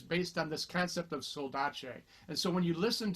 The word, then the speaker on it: saudade: So I used to think it said soldade or soldade or something, but it's pronounced saudade, and it's a Portuguese word.